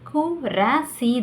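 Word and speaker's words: कुर्सी: Hindi name கு ரா சி தான். பட் அது வார்த்தையாக சொல்லும்போது குர்சி.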